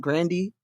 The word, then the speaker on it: Grande: when she said that her last name was ashley actually pronounced grandy mm-hmm yes and then